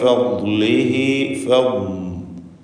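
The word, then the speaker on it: فضله: മിൻ ഫദ്ലിഹി ഫദ്ലിഹി ദ്വാദിൻ്റെ ഉച്ചാരണമാണ് പ്രത്യേകം ശ്രദ്ധിക്കേണ്ടത്. നാവിൻ്റെ ഒരു സൈഡ് നീളത്തിൽ മേലെ അണപ്പല്ലിനോട് ചേർത്താണ് ദ്വാദ് ഉച്ചരിക്കുക.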